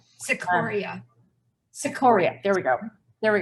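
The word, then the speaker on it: Cicoria: not sure how to say his last name cicero sequoia sequoia there we go there we go he and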